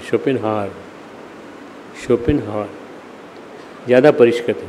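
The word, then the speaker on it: Schopenhauer: दुर्गुण अपनी मलिन काओं को घोल देते हैं शोपन हावर ज्यादा पका हुआ था शोपन हावर तुमने स्पेलिंग नोट करी कि नहीं एस एच ओ पी एन शोपन एच ओवीी ई शोपिन हार शोपिन हार ज्यादा परिष्कृत व विचारों के शिखर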